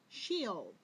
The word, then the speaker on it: sheol: was translated as hell was a hebrew word pronounced sheol the little hebrews this word means grave it